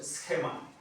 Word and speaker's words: schema: palabra esema esema schema así se pronuncia schema que quiere decir es